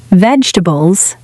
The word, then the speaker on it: vegetables: eggs, bread, rice, pasta, vegetables, fruit, chicken, water, sugar, fresh discount on sale. Out of stock, total. Now, a small pronunciation tip. Vegetables sounds like veg to bulls.